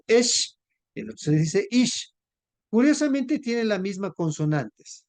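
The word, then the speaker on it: איש: Y se dice ish, así se dice hombre, ish, ¿sí? Mire, es el mismo, casi la misma, ¿sí? El otro solamente se dice esh, el otro se dice ish.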